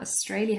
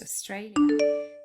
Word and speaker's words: Australia: Australia has 3 syllables, and the middle one is stressed, Australia.